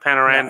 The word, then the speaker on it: Panarin: I understand that, but pronounce his name right. It's Panarin.